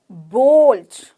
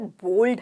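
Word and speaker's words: bold: या बूढ़ा ओल्ड बूढ़ा बोल्ड बोल्ड मतलब साहसी कहते हैं ना बहुत ही साहसी बहुत ही सहायक की है मतलब बहुत बोल्ड है बोल्ड बल्ड नहीं बोल्ड ठीक है स्नो स्नो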